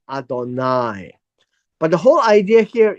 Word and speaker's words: Adonai: it comes to God it will be pronounced as Adonai but the whole idea